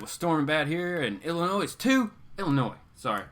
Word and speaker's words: Illinois: Count Von Strange said it was storming bad here in Illinois too. Illinois. Sorry. I don't know why I want to pronounce the S sometimes. Illinois.